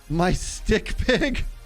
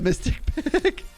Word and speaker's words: Mystic Pig: I had someone online once who kept pronouncing my name as my stick pig instead of Mystic Pig.